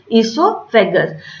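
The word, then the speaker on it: oesophagus: Spelling starts from O-E-S-O-P-H-A-G-U-S, but we pronounce esophagus, or commonly called the food pipe.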